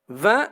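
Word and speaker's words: vingt: 20 s'écrit avec GT à la fin, qui ne se prononce pas.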